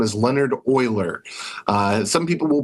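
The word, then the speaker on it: Euler: His name is Leonard Oiler. Uh some people will pronounce it Uler.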